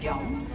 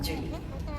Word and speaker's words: Chong: Um my Korean name is pronounced Jong, but even the Koreans have a very difficult time pronouncing my name. So I am well off with um Jun.